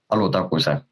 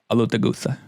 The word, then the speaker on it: Alutaguse: It's from what I've heard, it's exactly how most people pronounce it, but we say Alutaguse. Alutaguse.